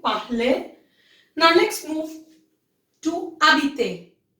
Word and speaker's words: habiter: Now let's move to habiter. Habiter, H is silent.